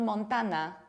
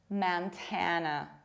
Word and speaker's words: Montana: It's not Montana, it's Montana.